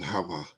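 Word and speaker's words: חוה: He pronounced it Hava.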